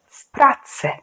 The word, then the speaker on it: w pracy: And because P is a voiceless consonant, then W sounds like F. So together you say w pracy.